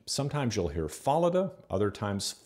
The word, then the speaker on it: Fallada: most often and because the germans tend to place the emphasis on the first syllable of a multi-syllable name in 1911 at the